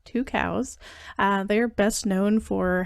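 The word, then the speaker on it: Tucows: through the company called two cows so that's how it's actually pronounced as two cows they are best known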